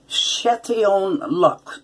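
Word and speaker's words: Chatillon Lux: of my post shave I wish people would pronounce it right it's Shetty own luck Luc's and this particular one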